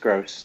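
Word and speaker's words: Groß: of the plays you've previously mention in Pascal gross or grow whatever it what was it called and asked for the thing you want to offers us it's pronounced gross it's just it is and they spell it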